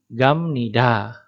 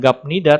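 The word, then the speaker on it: 갑니다: mengisi disini maka menjadi gamnida nah dibacanya pun Bukan gabmida tapi gamnida jadi Dek bertemu dengan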